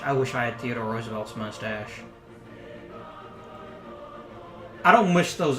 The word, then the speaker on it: Roosevelt: a different time very would be said Roosevelt its Roosevelt there's an additional syllable in there that he missed so then again Sean